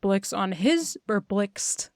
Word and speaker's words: Blxst: But she has a song where she crosses over with Blixt on his new album. That's spelled BLXST.